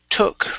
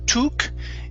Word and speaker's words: took: up we have okay the word um took right here instead of tu tuk it's an uh sound okay very good next